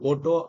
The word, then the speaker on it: Otto: One is the Otto cycle, either Otto or Otto you can pronounce.